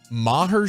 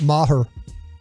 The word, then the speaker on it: Maher: are we a Brett Maher show or are we a Brett Marr show we're at Mar because I think our